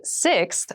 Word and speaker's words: sixth: sixth sixth sixth so sixth refers to the number six of something this is a really good word to practice some pronunciation slow down that six that middle part there the sixth book from